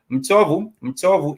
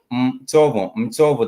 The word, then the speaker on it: mchovu: Mchovu is mchovu. The M is the M is mchovu. That is mchovu, which is tired.